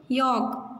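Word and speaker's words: yolk: क्या बोलते हैं, यॉक. तो इसमें क्या साइलेंट है, एल.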